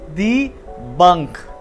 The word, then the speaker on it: Bank: हैं सिर्फ इसकी पन्ना स्टेशन डिफरेंट है इसको प्रोनाउंस करते हैं दी बंक जर्मनी में मौजूद का एक अकाउंट होता है